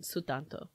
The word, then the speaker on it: Sutanto: there's a they're very clear on how they pronounce her name sutanto um her I highly highly recommend dial a